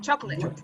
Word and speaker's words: chocolate: Chocolate. It's not chocolate. No. Chocolate. You say chocolate. 3 syllables. I am talking about 2 syllables.